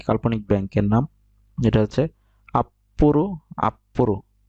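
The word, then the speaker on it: アップル: তারপরে আরেকটি আছে একটি কাল্পনিক ব্যাংকের নাম, যেটা হচ্ছে আপ্পুরু, আপ্পুরু। এটা দেখেন ছোট ছো আছে, তাই এটা উচ্চারণটা উচ্চ থাকবে এবং এই উচ্চারণটা দিতে হবে।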